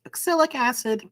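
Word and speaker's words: oxalic acid: the word acid technically this thing is pro pronounced oxyc acid but neither here nor there last but not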